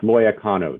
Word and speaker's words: Loya Cano: pronounce your last name it's pronounced loya cano judge it's if you look at it hard enough and squint your eyes you might kind of see it loy cono okay all